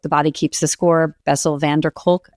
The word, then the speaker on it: Bessel van der Kolk: The man who wrote The Body Keeps the Score, Bessel van der Kolk, I think is how you pronounce his name.